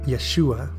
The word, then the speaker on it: Yeshua: name as it appears in Hebrew and the pronunciation Yeshua this is yet another example from a list